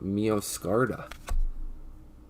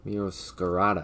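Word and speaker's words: Meowscarada: Here's the third evolution hollow of Mioscarda. Mioscarada, actually. I think I mispronounced it the first time, but that's awesome.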